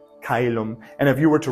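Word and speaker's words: caelum: this one in OE diphthong and they're both pronounced the same way in ecclesiastical here's shellum foreign again that Soft C Sound and then this becomes in an a sound and here in Latin it's kailumb and if you were to write c o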